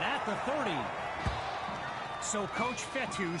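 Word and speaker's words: Fetu: so coach fethu spelled f-e-t-u for the longest time i was pronouncing it coach fedo like feta cheese so let's just say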